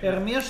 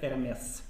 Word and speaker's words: Hermès: Эрмеш 24. Эрме. Вообще-то Эрмес. Эрмес. А по-моему, буква S не произносится, нет? Произносится. Не произносится буковка H.